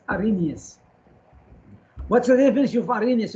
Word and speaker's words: Arrhenius: We don't pronounce the H. It's called Arrhenius. Arrhenius.